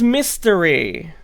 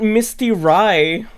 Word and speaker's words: Mystery: Oh, it's Mystery. It's not Misty Rye.